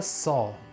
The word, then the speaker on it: Sauh: And it's the mantra Sau, S-A-U-H. It's Sa plus Au plus H.